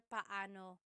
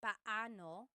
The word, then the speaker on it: paano: And then just a pronunciation tip. It's technically paano. When there are two vowels together, you say them separately. Paano. But when speaking quickly, Filipinos just say paano.